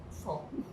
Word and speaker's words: phone: So phone, the PH is F in how you pronounce it. That's F. So I was being corrected by my trainer. It's phone, phone.